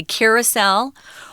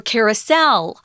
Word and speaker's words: carousel: I wanted to mention before we go on, you can actually pronounce carousel two different ways. You can say carousel or carousel with the emphasis on the second syllable there, carousel. Oh, that's the third syllable. So we'll probably go back and forth. I say it both ways.